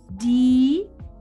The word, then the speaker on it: die: Die, aquí la E no suena. Ajá. IE es una I larga, ¿sí? La E no suena, di, ¿ok?